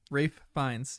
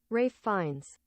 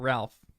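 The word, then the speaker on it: Ralph Fiennes: this what up Rafe Rafe fines everyone say it with me Rafe fines Rafe fines Rafe why the heck is it pronounced Rafe and not Ralph is that a is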